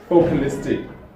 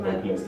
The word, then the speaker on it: Focalistic: Focalistic. There we go. Focalistic, not vocalistic.